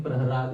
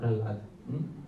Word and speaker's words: Prahalad: here you can see the spelling praharad instead of pralad. The original the spelling that we know is pralad with the but here it is with the laa. There is non difference between the syllables ra and la.